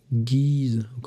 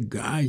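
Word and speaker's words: Guys: à partir de Constantin guise si on prononce en français Guy si on prononce en anglais puisque lui était deux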